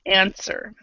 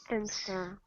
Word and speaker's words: answer: this we excuse me we say without the W so answer answer answer yeah and it's